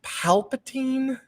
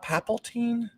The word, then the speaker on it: Palpatine: for a while and isn't it pronounced palpatine not papa teen power yeah like paypal